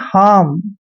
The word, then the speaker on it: harm: Next है HARM, इसको पढ़ते हैं हार्म, आर थोड़ा साइलेंट रहता है लेकिन लिखना पड़ता है हार्म।